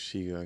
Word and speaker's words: chego: Now I'm sure it's Shigo, okay.